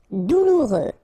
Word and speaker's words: douloureux: Douloureux. Remember, final X not pronounced, so you get this OU together. Ou, douloureux. Douloureux.